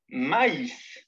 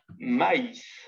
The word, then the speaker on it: maïs: Mais, M-A-I-S, se prononce mais. Maïs, M. C'est qu'on avait dit mais ou A, I, tréma, S, se prononce maïs. On prononce le I séparément. On dit donc maïs.